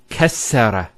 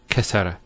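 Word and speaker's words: كسّر: And you can actually feel it the way it's pronounced. Kassara instead of kasara. So once again, there's the kaf, followed by 2 scenes, and then the ra. So kas, skune, sara. Kassara, not kasara.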